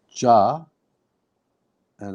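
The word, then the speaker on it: جاء: So it's Ja. And it has an alif after it. Then it ends with a Hamzah with the Fatah. So Ja. Ja'a. No, pull the ja and the a is short.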